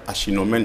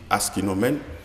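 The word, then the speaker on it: Aeschynomene: Il y a aussi d'autres plantes qui ont été introduites comme certains l'appellent achinomène, d'autres prononcent le S et disent aschinomène.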